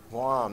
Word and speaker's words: Guam: rested away from spain rhymes with mom guam there we go okay